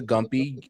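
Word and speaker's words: Gympie: Look up the Gumpy, the Gumpi tree. And Gimpy is how you pronounce it.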